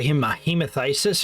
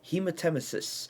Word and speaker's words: hematemesis: extent to the internal organs, sometimes leading to, hematasis? Yeah, I think it's a hemathisis or something like that. I could not pronounce the word.